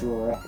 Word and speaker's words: Royer: It's Superior, right? Superior, so backwards would be... Yeah, it's a backwards Superior, yeah. I don't know how you would say Superior backwards. Superior. It's just Royer.